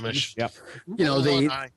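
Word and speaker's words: Gruumsh: Then that's going from the deity and demigod book with Grumish. Is that how it's pronounced? Yeah, Grumish.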